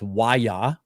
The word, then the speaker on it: Waya: It's Waya is how you pronounce it.